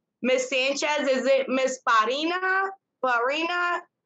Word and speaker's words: Pierina: Pierina? Pronounce it for me. It's like the French name Pierre. Pierina. Pierina.